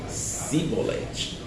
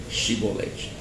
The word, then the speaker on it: Chibolete: o vocabulário correto e o vocabulário que eles usava era simbolete e por causa disso naquele dia 42 mil pessoas fugitivas foram degoladas foram mortas porque eles não puderam pronunciar corretamente chibolete por isso fica aí